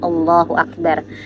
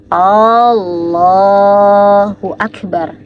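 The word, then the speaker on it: الله أكبر: ada ee tiga ya Yang pertama adalah ketika seseorang itu memanjangkan Hamzah pada bacaan Allah atau bacaan Akbar Jadi mereka bacanya antara Allahnya yang panjang atau Akbarnya yang panjang contoh misalnya ya ini salah enggak boleh nih Allahu akbar nah panjangan a dari kalimat Allah di sini itu tidak diperbolehkan ya teman-teman atau bagian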